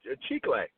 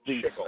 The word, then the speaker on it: chicle: one and she's like, oh, chicle, like the gum. And I'm like, and I just immediately started shaking my head and I thought of you, Bob. So. But I'm like, I pronounce it chickle.